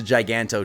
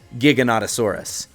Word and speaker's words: Giganotosaurus: I thought it was a Giganto too, but the N and the O and the T and the O is in that sequence, so it's pronounced Giganotosaurus.